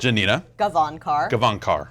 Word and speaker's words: Janina Gavankar: Starting with Janina Gavankar. How you doing? That's a lot of did I pronounce that right? It's a lot. It's a lot. It's Janina. Janina Gavankar.